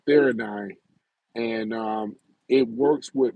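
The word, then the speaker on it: theanine: He's he been Joe Rogan been taking the theine I think it's pronounced th h e a r n i ne uh theine and um it works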